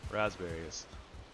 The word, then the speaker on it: raspberries: a bunch of rasberries Ras I'm still trying to pronounce the P for some reason raspberries you know what I